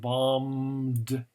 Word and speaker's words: bombed: that's very good now the b here is silent the second b is